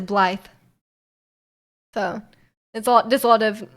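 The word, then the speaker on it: Blaidd: So my favorite guy, definitely not a furry, Blythe, is pronounced B like this. So it looks like Blade, but it's Blythe.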